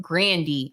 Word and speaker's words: Grande: But homegirl said her last name isn't even pronounced Grande. It's pronounced Grandy, homegirl said.